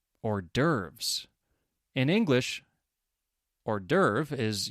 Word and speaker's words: hors d'oeuvres: another word with a silent H beginning that comes right from a French term. Hors d'oeuvres.